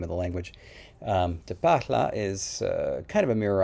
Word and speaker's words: Tpaalha: you an overview of te pachla with a nice long a jesse is really good at pronouncing the name of the language de parla is kind of a